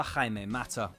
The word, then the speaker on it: Jaime Mata: Without the perseverance and self-confidence akin to his manager, things could have been very different for Jaime Mata.